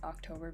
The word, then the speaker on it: OCtober: for OC Tober so I guess you'd say it like October but it's like OC